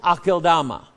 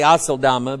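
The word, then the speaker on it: Aceldama: It's pronounced Akeldama. I used to say Aseldama, but it's Akeldama.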